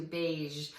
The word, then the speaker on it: beige: So beige is another great color word that might be new to some children, and it has a hard sound at the end of that word too, beige.